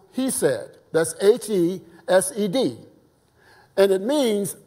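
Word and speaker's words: חסד: for for Mercy according to Strong's Concordance is pronounced he said that's h-e-s-e-d and it means unfell in love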